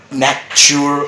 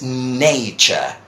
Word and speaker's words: nature: they James I mean people might say Mack sure or nap door or something like that and this is nature so you got culture